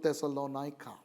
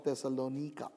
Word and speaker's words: Thessalonica: epistles and that's to thessalonica or thessalonika depending on how you would want to pronounce it another european city but